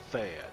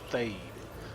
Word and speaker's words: Thayd: and teleport the fade I used to call it Thad but turns out I heard a NPC pronouncing and it was called fade you know so okay